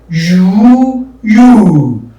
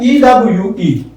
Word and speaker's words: ewe: Tum, wum, ku, gu, you. Look at EWE. It's you.